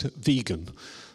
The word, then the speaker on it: vegan: and invented the word vegan I need his pronounced vegan not whatever other kind of pronunciation other people